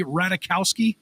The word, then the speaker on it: Ratajkowski: She's the latest in a long line of Pete girlfriends, which includes Kim Kardashian, Ariana Grande, and Emily Ratajkowski.